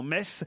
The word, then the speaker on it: Metz: j'ai remarqué que si vous cher laurent vous prononciez correctement metz ce n'est pas le cas de tous vos